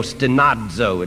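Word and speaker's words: στενάζω: on for in this we groan stanzo s-t-n-a-z-o stanazzo it's pronounced why do we great doesn't mean groan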